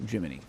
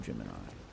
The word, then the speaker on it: Gemini: then Gemini's iron protection geminy sorry not Gemini I don't want to sound like a Ru here I pronounce it the way it's supposed to be and we can pronounce it the way Walt Disney did incorrectly almost 100 years ago let's do it another